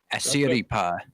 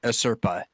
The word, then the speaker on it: Asirpa: Well- He comes Sugimoto comes across an Ainu girl named Asiripa. Wait, did I pronounce that right? a Serpa. No. I Serpa. Yeah, Asirpa.